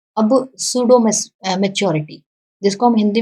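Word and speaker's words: pseudo: 15 पे बढ़े तो अब सूडो मैच्योरिटी, जिसको हम हिंदी में बोलते हैं मिथ्या परिपक्वता। This stage is also called a period of सूडो maturity. यहाँ पे पी साइलेंट होता है, पसूडो नहीं बोलेंगे, सूडो, सूडो मैच्योरिटी।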